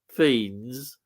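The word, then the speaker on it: Fiennes: is it's brilliant U isn't Ralph F F pronounced Ral fiends F I know that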